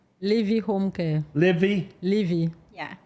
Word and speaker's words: LIVI: LIVI Home Care.